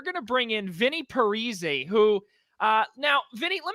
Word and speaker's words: Parise: get me and zach's name wrong we actually pronounce it the same but not a lot of people realize it it's parisi parisi oh well okay well now first just to